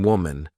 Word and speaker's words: woman: Please say women when referring to more than one woman, not womans or woman. Even though the singular and plural forms of women and woman have the same spelling at the beginning, w-m, the pronunciations are different.